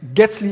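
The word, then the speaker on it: Guetzli: announced the getzly algorithm I think getsley is the way to pronounce it I haven't validated that so maybe if somebody knows I always call it getsley so what is gasly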